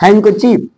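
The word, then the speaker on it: handkerchief: होता है हैकी बाकी हैंक चीफ हैंक चीफ हैंक चीफ actually hacker चीफ ही है लेकिन साइलेंट रखा जाता है ना कि बराबर हैंग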